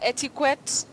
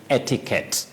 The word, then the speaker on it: etiquette: u eou t e you hear etiquet ETI how do we go about that one will but we don't say e we say etiquette yeah etiquette okay and we